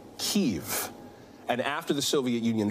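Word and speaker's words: Kyiv: you pronounce that well the russian pronunciation just fyi is kiev but ukrainians tend to say kiev and after the soviet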